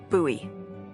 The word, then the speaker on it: Bowie: It's actually pronounced Bowie. What? No, it's like the last name, like David Bowie.